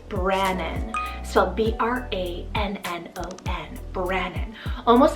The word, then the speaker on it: Brannon: and sound we have the name brannon so b-r-a-n-n-o-n brannon almost like an alternative to like brandon